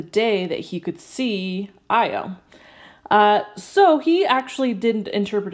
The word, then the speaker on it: Io: measurements of Jupiter's moon Io it's literally just like IO I know that's how it's spelt but it's also how it said I hope I only